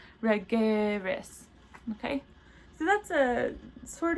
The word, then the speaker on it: regeris: These two forms are distinguished audibly and visually by the accented syllable. So in the present tense, we would say that regeris, whereas the future tense is regeris.